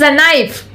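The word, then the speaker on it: knife: Mouse MICE होत इट्स नाईफ नाईफ नाईफ spelling आहे के एन आय एफ तर इथं के नेहमी सायलेंट असतो हे लक्षात घ्या.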